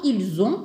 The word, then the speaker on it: ils ont: on ajoute l'âge donc ils ont par exemple faut pas oublier toujours la liaison donc ils ont 8 ans par exemple